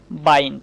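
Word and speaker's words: bind: তো এই বানানের মধ্যেও কিন্তু আমরা আই প্লাস এনডি খুঁজে পাচ্ছি। এইযে আই তারপরে কিন্তু এনডি রয়েছে তাই না? তাই আমরা অবশ্যই আই কে আই এর মত উচ্চারণ করব।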